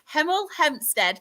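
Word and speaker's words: Hemel Hempstead: hate saying this one because I can never pronounce pronounce my H's being northern. So, we have got I need to say it slow so I sound quite posh. Heml Hempstead.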